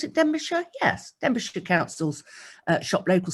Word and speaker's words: Denbighshire: And we had a message from Nicholas, that's Denbighshire, I think, do you pronounce it Denbighshire?